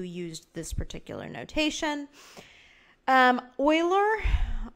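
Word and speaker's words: Euler: this particular notation um Oiler that's Oiler spelled like that came up with his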